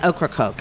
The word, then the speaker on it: Ocracoke: you guys found in horik hope I pronounced that right oh yeah I've mispronounced it but it's Ocracoke I've been corrected North Carolina yeah and